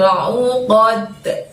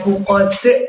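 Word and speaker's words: عقد: Wa min syarrin naffasati fil uqad gitu ya. Dibiasakan jangan pakai pada saat mantul, jangan uqad tapi uqad gitu ya.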